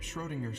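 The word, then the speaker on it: Schrödinger: book isn't for um cat ladies it's about schrodinger's cat it's pronounced schrodinger anyway i'm a dog person if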